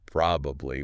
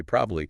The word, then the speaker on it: probably: We almost never say probably. We say probably.